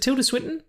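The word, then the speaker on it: Tilda Swinton: with Tia switon is it t is it Tilda switon yeah that's how you pronounce it you got it right I'm just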